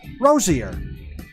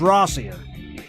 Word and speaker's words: Rossier: Rosier. Rossier. It's Rossier.